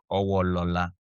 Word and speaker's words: Owolola: What's the new pronunciation? Owo. Okay, Owolola.